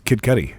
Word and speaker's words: Kid Cudi: party on dudes it's Cuddy right Cuddy kid cudi okay there's even a YouTube video that tells you how to pronounce it oh that's fantastic we should just says Kid Cudi yeah Kid Cudi Kid Cudi beautiful Scott